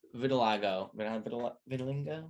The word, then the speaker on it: vitiligo: I think that he had gotten plastic surgery because as he was growing older, besides vitiligo, how do you say?